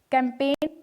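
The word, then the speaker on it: campaign: कैंपेन में देखिए जी जो है वो नहीं बोला जा रहा है, और इसी तरीके से फर्स्ट जो स्पेलिंग है इसमें देखिए नेट है जो, इसमें जी साइलेंट है।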